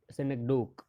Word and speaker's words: synecdoche: Pronunciation is synecdoche and not synecdoche.